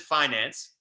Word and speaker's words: Fynanc: and the bottom we we spell it with a quirky spelling but we pronounce it Finance okay so as a